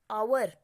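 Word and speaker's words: hour: The student came half आवर, आवर दिया गया है। आवर का जो यहाँ एच जो है ये ओ का प्रोनाउंसिएशन कर रहा है, तो इसीलिए हम यहाँ पे क्या लगाएंगे, article an, indefinite article an आएगा।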